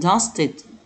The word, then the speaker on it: dusted: بعدين بالنسبة للفونيكس الصوتيات اللي في الدرس، dust dusted، dust dusted يعني ينفض الغبار. طبعا ال a d بتتنطق i d، dusted.